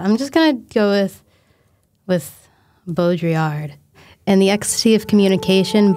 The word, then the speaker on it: Baudrillard: Uh… “Bo-dree-ard” That sounds… That’s right, right? Uh, yeah. It’s probably right. (computer voice with French accent) “Baudrillard” Uhhllck. I can’t do that. Yeah, I’m just gonna go with “Bo-dree-ard.”